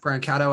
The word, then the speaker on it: Cato: um which I think a lot of people mispronounce his name Brian Cato but it's Brian catto I think is how he pronounced the Japanese guy I've